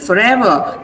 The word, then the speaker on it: forever: Pronounce it forever. So the ever is stressed.